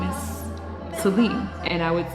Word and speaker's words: Celine: My name is Celine. And I would say Celine, like Celine Dion.